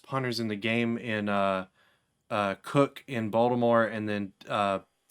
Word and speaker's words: Koch: I read it's Koch, but I read it as I think that's how you pronounce it. Cook.